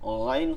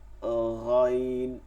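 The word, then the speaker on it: غ: বাংলায় হচ্ছে এই উচ্চারণগুলো কি শক্ত, কিন্তু আরবিতে এর উচ্চারণগুলো হচ্ছে নরম। এটা খ না বা গ না, এটা কি এইখানটার সাথে তালুটার সাথে ঘষবে, খ গাইন, ঠিক আছে, খ গাইন, খ গাইন।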